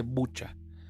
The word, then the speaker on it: Bucha: que ha pasado en buja Estuve escuchando que también se dice bucha pero la pronunciación fonética es bu ha sido algo tremendo